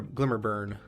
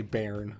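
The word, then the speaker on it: Glimmer Bairn: glimmer glimmer burn and yes is pronounced burn i had to google it just i wanted to make sure because i knew it wasn't what i originally thought it was i was going to say baron but uh no burn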